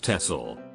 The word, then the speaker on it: Texel: islands, Waddenelanden, which are Texel, pronounced as Texel, Vlieland, Terschelling, Ameland and Schiermonnikoog.